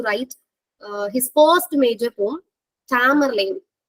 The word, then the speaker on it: Tamerlane: And this poem, Jogger also influenced Edgar Allan Poe to write his first major poem, Tamerlane. Not Tamberlane. Christopher Marlowe Tamberlane கிடையாது, Tamerlane.